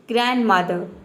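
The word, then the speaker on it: grandmother: next आपका example है ग्रैंडमदर ग्रैंडमदर इसमें बोलेंगे ग्रैंडमदर ग्रैंड नहीं बोलेंगे ये होगा ग्रैंडमदर डी साइलेंट रहेगा साउंडलेस ये साउंडलेस साउंड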